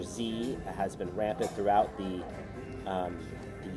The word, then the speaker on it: Xi: Also, the president of China, his name is Xi, as in Z, is pronounced Z, Xi Jinping.